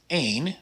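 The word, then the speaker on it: één: are a little different the first word is pronounced ain like you might expect but the word without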